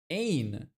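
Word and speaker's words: ʿAyn: Ain. That's what the letter is called. Constrict the middle of your throat and pull back your tongue backwards, creating a voiced guttural sound.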